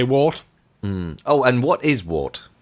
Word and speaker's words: wort: spelt wor T but it's a Germanic word so some argue that it should be pronounced worked vert or vert and some